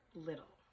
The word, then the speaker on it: Liddell: they never forgot Eric the Eric little I should say that's how you pronounce it never forgot Eric the